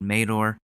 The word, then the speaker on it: Madore: It's pronounced Mador.